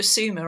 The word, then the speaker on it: Sumer: And also Sumer, I pronounced summer, so I had this,